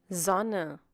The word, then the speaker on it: Sonne: Sonne. Sonnen. Sonnen. Sonnen? S. S. Sonne. Sonnen. Sonnen. That's The cool. pronunciation of S is like the English Z.